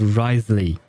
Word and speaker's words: Risley: uh but yeah uh I think his name is pronounced risely something along those line at least in English